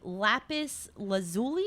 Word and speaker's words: lapis lazuli: it's a lapis lazuli.